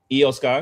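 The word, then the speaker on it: Iyo Sky: Um Eio Sky, excuse me.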